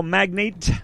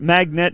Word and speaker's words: magnate: queen of all puss the radio magnate uh not magnet is the magnet i used to pronounce it like magnet which is like i